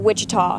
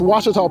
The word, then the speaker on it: Ouachita: Back in Texas, everybody pronounces it Wichita, but really, it's Ouachita. Ouachita. Washita. How would you pronounce it? Washita. Washita. It's Ouachita Baptist University. Get it right. It's Washita, people.